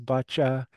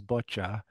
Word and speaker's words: bocce: So in French, maybe a French accent is boccia, or even maybe a British accent is boccia. But I'm pretty convinced that in North America we say bocce.